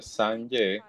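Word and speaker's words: སངས་རྒྱས: Entonces, la palabra de hecho Buda, que en tibetano se pronuncia sange, es alguien que ha purificado completamente todos los oscurecimientos.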